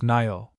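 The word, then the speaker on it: Niall: FN number 64 pronounced Nyall.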